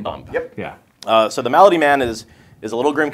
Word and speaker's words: Malady Man: keeping you on track it's not pronounced milady man okay yeah the malady man I'm really excited for